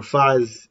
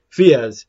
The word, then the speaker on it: Fiaz: Well, technically, this is supposed to be the Fiaz or Faz. The pronunciation of his name is Fiaz.